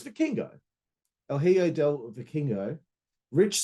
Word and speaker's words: Vikingo: Yeah, it's Vikingo. El Hijo del Vikingo. Rich Swann, I can pronounce that.